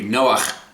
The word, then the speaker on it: Noah: word for comfort now in hebrew there's actually a ch at the end of noah so it would be noah so say with me